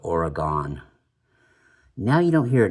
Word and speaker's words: Oregon: Not even, you know, people back east didn't even yet know how to pronounce the name of the state right, Oregon. Instead of that, they would call it Oregon.